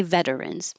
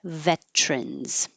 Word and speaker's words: veterans: You can say veterans, but most people say veterans.